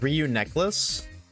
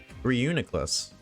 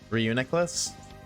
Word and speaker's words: Reuniclus: Reuniglass pronounced his name as Ryu Necklace. Reunicless. Reunicless. Well, I mean, I think it's close. Reuniculus. So, it just says neck instead of Nick. Reuniclus. Reuniclus.